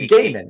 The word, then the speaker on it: Gaiman: Is it Gaiman? I don't know. It's Gaiman.